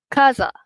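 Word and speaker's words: casa: Selain daripada huruf I dengan E which is huruf A, huruf O, huruf U dia jadi pronunciation dia adalah ke. Okey, bunyi K. Okey, ke. Contohnya kita tengok yang ni dulu. C A first kaza.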